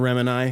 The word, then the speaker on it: Remini: I mean, it's just like when you Leah get, Remini. When you get say it like Gemini.